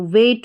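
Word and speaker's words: weight: जी एच है तो डब्ल्यू को व और इ आई जी एच को ए तो वे और टी को ट तो वेट हो गया तो यहां पर इ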